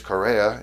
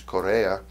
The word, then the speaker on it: Correa: In English, Correa; in Spanish, Correa.